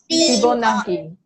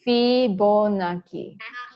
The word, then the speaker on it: Fibonacci: Okay, his name is actually the first word is called, somebody can pronounce this word or not? Bonasi. Fibonacci. Fibonacci. Again, 1, 2, 3. Fibonacci.